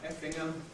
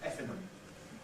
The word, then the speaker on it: Effingham: go to Effingham Junction, standard pronunciation Effingham, but the station announcer often pronounces it with an alveolar nasal as Effingham, because it falls into this category of ing.